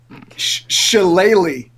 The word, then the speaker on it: shillelagh: I think you pronounced it wrong too. I just looked it up. Shillelagh.